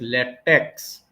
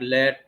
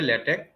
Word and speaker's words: LaTeX: tell this thing that this is many people pronounce as latex it is not pronounced as latex but Letch just to differentiate it from the chemical latex so we would pronounce it as in this way lch scientific document writing using lch now if we